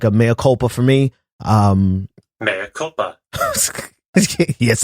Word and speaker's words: mea culpa: This has been like a mea culpa for me. Mea culpa. Yes, I just checked the pronunciation of that, and no, I'm not editing it out.